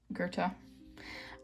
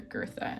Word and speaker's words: Gerta: this is my d d character girth Gerta um I almost said her name wrong because everybody else calls her girtha and it's kind of